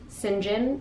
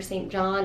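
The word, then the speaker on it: St John: then will be helped by um sinjin or saint john i think it's pronounced sinjin i'm not sure it's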